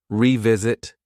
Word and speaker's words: revisit: visit this again but for pronunciation that re is a strong sound e you hear that e revisit revisit let's revisit this